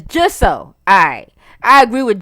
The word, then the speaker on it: Jisoe: It's Jisoe. Alright. I agree with Jisoe.